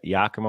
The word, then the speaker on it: Yakima: was uh um well how did you say Yakima Washington yeah it's my dog like Zima yeah you should see you